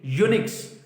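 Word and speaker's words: eunuchs: ई जो है वो यहां पे साइलेंट होगा, यू की आवाज निकलेगी। यूनिक्स जो, देयर आर यूनिक्स,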